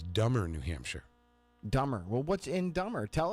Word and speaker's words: Dummer: er dumber New Hampshire yeah it must be pronounced dumber what is it do mer no it's dumber so kudos County yes Tim Coos County dumber